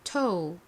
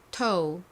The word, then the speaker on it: toe: 그리고 발음은 toe, toe입니다. OA와 같이 OE도 O 발음이 나죠. 따라해 보세요. toe.